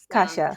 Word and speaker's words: Kasia: yeah, almost like Yeah, cashmere, it's except like a it's a soft different S, sound, Kasia. Kasia.